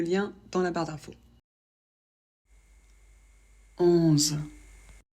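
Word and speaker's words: onze: dans la barre d'info 11 o plus n ça fait un le Z on le prononce Z comme une abeille ça fait 11 il y a pas de problème pour la liaison parce qu'on le prononce toujours de la même manière on s'arrête au Z voilà 12 O plus U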